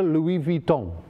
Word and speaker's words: Louis Vuitton: on the left is a Louis Vuitton you have to pronounce it with the French accent of course and the one on